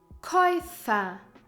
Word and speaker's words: Käufer: Oi, like Käufer, buyer, and you pronounce it like the sound in the English word oyster, oi.